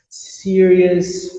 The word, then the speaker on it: serious: Tu nunca vai falar ous. Tu sempre vai falar us. Serious, famous, dangerous. Tem a palavra ansioso em inglês. Anxious. E todas se escrevem com O-U-S e tu nunca pronuncia o O. Sempre só o us.